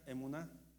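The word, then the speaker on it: אמונה: La palabra fe, hermanos, en hebreo se pronuncia emuná.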